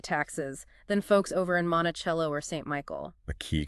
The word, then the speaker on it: Monticello: Monticello, that's pronounced Monticello, and St.